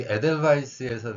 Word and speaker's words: Edelweiss: 그러다 보니까 그 글자가 W로 표기가 되어 있지만 발음은 영어의 V 발음이라고 생각을 하시면 됩니다.